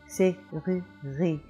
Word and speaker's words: serrurerie: Now, one of the main features of French is that the French speaker is always anticipating the vowel, whereas in English we anticipate and emphasize consonants.